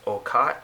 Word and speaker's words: Roccat: there we have it i believe that's pronounced oh cot if you speak german and i'm saying that incorrectly let me know in the comments below so there's our logo